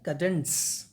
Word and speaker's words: cadence: इन कडेंस CADENCE है, लेकिन pronunciation में बीच में ट आता है, ठीक है. कडेंस, कडेंस क्या होता है?